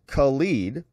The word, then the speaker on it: Khalid: Mayor Khalid, pronounced Khalid, is leading a generation of young activists from protest to politics.